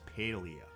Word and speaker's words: Palia: laid-back chilled relaxed game this game may also be pronounced as paleo papalia just feels more natural to me there is not too